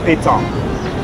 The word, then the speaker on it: Pétanque: um it's pronounced piton with a p not a b tongue old french men